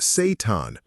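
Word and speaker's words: seitan: Meet Satan, pronounced Satan.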